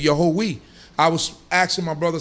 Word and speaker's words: Yahweh: It's not saying Yehovah, it's saying Yahweh.